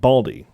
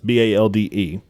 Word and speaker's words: Balde: assist from, also newcomer, Soleimani Baldi. That's Balde.